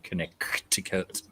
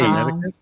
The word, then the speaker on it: Connecticut: Alyssa Bentley has confirmed Glastonbury in Connecticut. Why the hell do they spell Connecticut that way if they're not going to pronounce that C?